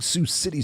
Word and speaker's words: Sioux City: the sue the big Sue City Sue Sue with an X yeah the c a c it's an S isn't it dang it